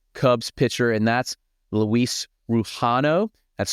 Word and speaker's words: Rujano: is a Chicago Cubs pitcher and that's Luis ruano that's spelled r u j a n o ruano